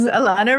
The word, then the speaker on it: Elana: to think Nirvana yes Alana rhymes with Nirvana Alana is my new